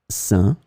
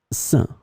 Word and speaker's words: sain: In this lesson, we will see together 3 words that are written differently but pronounced the same way. Saint, saint, saint.